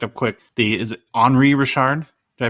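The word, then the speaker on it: Henri Richard: I I looked up quick the is it Henry Rashard did I pronounce it right all right great top sale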